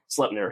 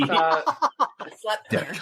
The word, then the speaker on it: Sleipnir: many-legged horse is named Sleipnir? Sleipnir, yep. It's like slept or slut? Slep. S-L-E-P. Sleipnir. God, I'd rather just be called a slur. Right? It's pronounced like the Yiddish schlep.